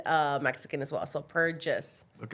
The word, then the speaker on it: Perjes: My name is Purges. Purges is because my husband's been he's Hungarian and uh Mexican as well. So, Purges, okay, is how you pronounce it.